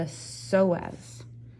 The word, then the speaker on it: psoas: abdominal oblique muscle okay this is a hard one for people to pronounce sometimes because it's a silent p the psoas muscle so the psoas